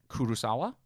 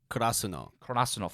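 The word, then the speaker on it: Karasuno: Because even the characters in the anime don't know how to pronounce it either. Kurosawa? Kurasuno.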